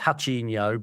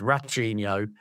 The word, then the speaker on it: Ratinho: I think in Brazil it would be pronounced Hachinho, but to us it's Ratinho.